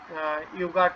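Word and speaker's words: jogurt: পাওয়া যায় অ্যাভেলেবেল সেখানে, ইউগার্ট খাবে, ইউগার্টের সাথে কি খাবে? ফ্রুটস খাবে। তো এটা আবার কি বলে দেখেন? ইউগার্ট উচ্চারণটা কিন্তু ইংলিশের মতোই আছে, ইউগার্ট, ওরা বলে ইউগার্ট। যে অভুসামি, হ্যাঁ অভুসামি হলো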